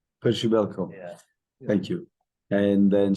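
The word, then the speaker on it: Przybyłko: Kamara, I don't know how to pronounce well the Polish striker. How do you, Percibiko? Percibelko.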